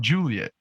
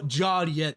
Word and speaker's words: Joliet: It's like Juliet, but you just put an O instead of U.